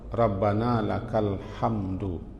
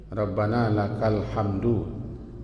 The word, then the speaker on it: Rabbana lakal hamd: Ketika tegak lurus dan ketika lurus dalam tegak itu, bacaan yang kita baca paling kurang Rabbana lakal hamdu. Kalau berhenti Rabbana lakal hamd. Jangan dibaca hamdu. Rabbana lakal hamdu.